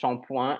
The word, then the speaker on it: shampoing: And I have a theory as to why this one is pronounced shampoing and all the others are pronounced with the ing at the end, because un shampoing, I